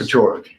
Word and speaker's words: Paciorek: Paciorek. Paciorek. Yes. All right. You can call me, Jared. I feel like I should say Mr. Paciorek.